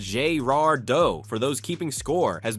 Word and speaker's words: Girardeau: Founded in 1733 as a French trading post by Jean-Baptiste de Girardot, Cape Girardeau, pronounced Girardot for those keeping score, has been connecting cultures and commerce for nearly 3 centuries.